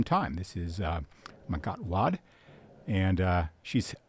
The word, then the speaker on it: Wade: this is uh makot Wad and uh she's she's okay if you say the last name Wade because that's how it looks like it should be pronounced in English but um I'm trying